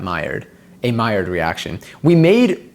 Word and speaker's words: Maillard: Okay, the L's are pronounced like that. Maillard.